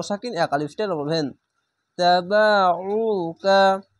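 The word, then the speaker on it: تبعوك: তাবাউকা, আইনটিকে গলা চিপে মোটা করে পড়বেন। অবশ্যই এই বিষয়টি বারবার কেন বলছি, কেননা এই আইনটিকে আলিফের মতো উচ্চারণ করে নাই, তার জন্য।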